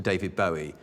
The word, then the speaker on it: Bowie: you that I've now changed Davy's name to David Bowie and that's the correct pronunciation he named it himself after the Bowie